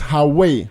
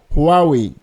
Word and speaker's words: Huawei: pronouncing this name as hawei hawei or something else the correct pronunciation is Huawei a close English phrase to remember this is who are we so who are we